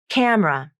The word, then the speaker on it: camera: with vowel syncope camera the middle e is dropped from the pronunciation and it is pronounced as two syllables camera i think this is